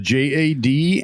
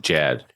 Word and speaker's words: JAD: any more time uh tonight's guests are the j a d and Shaggy Trio how you guys doing good good uh it's actually pronounced Jad it's Jad so it is Jad oh it is Jad